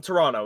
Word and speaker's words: Toronto: Tony, I'm from Toronto, which is the largest city in Canada. And you can tell I'm from there because I don't say the second T in it.